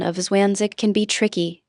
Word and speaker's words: zwanzig: Notice that is followed by The pronunciation of zwanzig can be tricky. Don't forget the z is pronounced like ts.